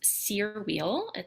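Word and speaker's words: Cyr wheel: a little bit about my specialties this one's sear wheel that's how it's pronounced it is a big metal ring that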